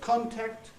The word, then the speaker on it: contact: But as I say, with verbs, the only ones I could find that are stressed on the first syllable, stressed on the prefix, were contact, comment, conjure. That's conjure, by the way, it's the cup vowel, promise, perjure, and forfeit.